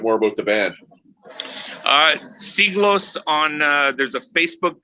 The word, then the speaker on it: Siglos: channel um and the band you know is pronounced c gloss it's spelled s-i-g-l-o-s it's definitely heavy um if